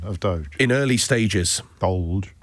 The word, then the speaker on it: DOLGE: So not Doge, it's DOLGE.